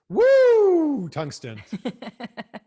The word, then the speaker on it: Woo Tungsten: you'll like this, is Woo Tungsten. Ric Flair influenced. Which is a little inspired by Ric Flair, but mostly inspired by when you catch a giant bass, you're like, woo, yeah.